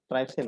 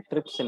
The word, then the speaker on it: trypsin: ट्राइप्सिन नहीं, ट्रिप्सिन में।